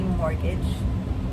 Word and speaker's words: mortgage: The T is silent when we say mortgage.